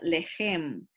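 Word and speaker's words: לחם: panes en estos pasajes, acuérdense en que CH se pronuncia como J para nosotros en español, entonces es la palabra lejem. Lejem, haciendo énfasis en la J como que si fueran judías.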